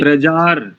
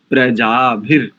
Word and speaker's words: प्रजाभिर्: एक त्रुटि हो गई आपसे, जी प्रजार, प्रजार नहीं, प्रजाभिर, प्रजाभिर। जी जी।